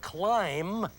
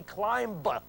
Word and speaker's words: climb: C l m, not 7539 because you do not say climb b. Just as you do not say bomb b. You do not pronounce the last b.